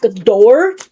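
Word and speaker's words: Doar: His name is Zach Dorr. That's how I'm going to spell it, or say it. D-O-A-R. Like boar, but with a D at the beginning.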